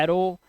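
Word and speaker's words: arrow: आपको करना हो होगा जब किसी शब्द के अंत में ओ डब् दिया हो तो ओ डब् का उच्चारण ओ निकालो जैसे ए डबल आर ओ डब् तो इसे तीर का मान क्या बोलते हैं एरो इसी तरह से यहां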